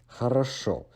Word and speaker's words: хорошо: Remember that because you can maximum pronounce O once in one word, the first two O's in the beginning and the middle part of this word are being de-stressed to A, so it is pronounced as хорошо.